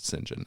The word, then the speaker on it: St John: see the name St period space JN you pronounce it singen as far as I know but and it's